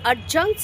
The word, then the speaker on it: adjunct: So first, adjuncts are actually, it's called adjuncts. D is not pronounced.